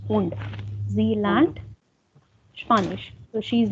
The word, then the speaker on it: und: English is English pronunciation and English is Deutsch German pronunciation. English und Deutsch is not and, it's und.